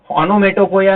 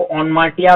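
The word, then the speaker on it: onomatopoeia: ओनोमेटोपोया है, उसका प्रोनाउंसिएशन आप ओनमाटिया भी कर सकते हैं।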